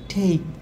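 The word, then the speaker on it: take: আমরা এই টেক কেন বলি, এর উচ্চারণ হচ্ছে TAK, ঠেক। এর উচ্চারণ হচ্ছে ঠেক। ঠেক কেন হবে, কারণ হচ্ছে যখন A plus consonant plus vowel থাকবে তখন এর উচ্চারণ এই হয়।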